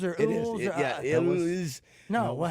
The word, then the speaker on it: Elwes: Yeah, Elwes.